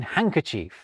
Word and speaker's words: handkerchief: Take the silent D's in handkerchief and handsome.